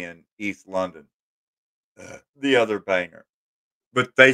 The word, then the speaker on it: Bangor: how to say it some say Bangor that would be wrong it it's Banger Banger like bangers and mash Banger Maine University of